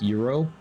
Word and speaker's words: gyro: Literally, it was like a Greek Euro, gyro for those of you who don't know how it's pronounced.